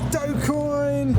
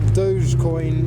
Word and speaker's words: Dogecoin: play a sticker showcase it's dopecoin or dogecoin as it's meant to be pronounced but we're going to